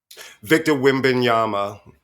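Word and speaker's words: Victor Wembanyama: preoccupied all right so please give me the pronunciation of his name the basketball player Victor wimon Yama okay who's very tall so he was very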